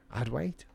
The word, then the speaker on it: Adwait: Adwait?